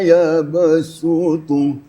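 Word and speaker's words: وَيَبْسُطُ: Di atas sod ada sin. Shin ya. Itu bukan tasydid tetapi adalah huruf sin. Jadi artinya hanya satu wajah ya. Sod dijadikan sin. Wayabsutu. Wayab Ya. Jadi kalau bacanya wallahu yaqbidu wa yabsutu, menjadi sin ya.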